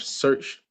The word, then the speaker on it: Shurch: I am the founder of Search. We started this April 12th. Search is spelled SHURCH, but search kind of like everybody's searching for something, right?